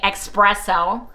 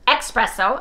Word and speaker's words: espresso: are so sweet and lovingly telling me espresso espresso espresso well I say expresso I say chimalee I say albums because when I was little that's how I pronounced it you guys I'm 68 and a half and if I remember and I cognitively think about it first I may call it espresso but otherwise you're going